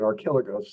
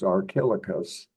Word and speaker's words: Archilochus: And you'll discover that in multi-syllabic names, it's the third syllable in that carries the accent. So it's Archilochus introduced the folk song into literature.